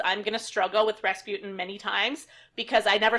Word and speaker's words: Rasputin: saw this movie but I grew up on that song where they pronounce it raspoutine so I thought his name was raspoutine for like 20 years and then I was like Rasputin well then that changes